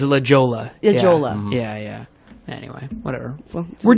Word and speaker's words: La Jolla: took me forever yeah or La Hoya to us and it spelled the Jawa isn't legit Lihua is La Jolla Jolla yeah yeah anyway